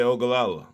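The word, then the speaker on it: Oglala: pronounced, but the way it's pronounced is actually like there would be an A between the G and the L. Bet that up. Buddha said, many Ogallala.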